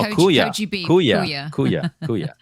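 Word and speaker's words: Køge: Koji. Koji. It's like No, Kuya.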